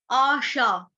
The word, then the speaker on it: आशा: आशा, आशा शब्द जो है बहुत आसान है, लड़कियों का नाम भी होता है आशा। अ अनार वाला नहीं है, आम वाला है, क्योंकि अ के साथ आ की मात्रा लगी है।